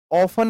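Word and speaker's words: often: ऑफन इसे pronounce करते हैं। ऑफन ओ एफ इ एन। इसमें जो टी होता है, यह साइलेंट होता है।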